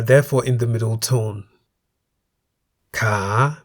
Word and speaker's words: ขา: Ka, meaning leg, and kan, meaning bowl, each has one live syllable that begins with a high class consonant called kai and is therefore in the rising tone.